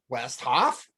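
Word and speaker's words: Westhoff: the the well it's easy it's just west and hoff you know like no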